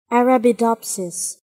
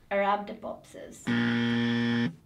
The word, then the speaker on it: Arabidopsis: Arabidopsis. Arabidopsis. Arabidopsis. Arabidopsis. I don't know where the emphasis goes.